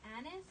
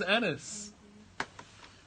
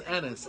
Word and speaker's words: Anas: Just say, was it Anis or Anas? There you go. See? Allahu Akbar. It was Anas. It was Anas.